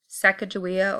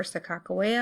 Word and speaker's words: Sacagawea: a little bit about Sacagawea or Sakakawea I guess it depends on where you're from on how you pronounce it perhaps one of the